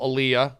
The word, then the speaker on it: Elia: It's not, there's no D. I've called you D'Elia before. Yeah, but it's Elia? It's pronounced, well, there's a couple pronunciations. I pronounce it Elia.